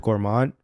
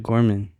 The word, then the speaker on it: Gorman: Bro, the way you pronounce names is so funny to me sometimes. What? Which one? It's Bishop Gorman.